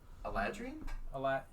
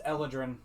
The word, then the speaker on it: Eladrin: Eladrin. An Eladrin? Eladrian? There is no extra I. It's Eladrin.